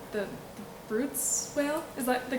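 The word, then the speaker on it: Bryde's: So one of the things, I was so captivated by, I'm going to pronounce its name wrong, the Brutes whale? Is that the correct pronunciation? Bruta whale.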